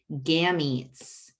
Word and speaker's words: gametes: Gams, like they called legs in the old-timey 20s, old-timey videos, gams, eats, like food, right?